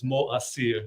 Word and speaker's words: Moacyr: But MoAcyr. Yes, very close. Very close. Very close. Welcome to the Yeah. show, and thank you you. for being here. The right pronunciation is MoAcyr.